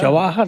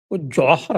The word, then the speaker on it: जौहर: जवाहर नहीं है वो हाँ, जौहर है, जौहर।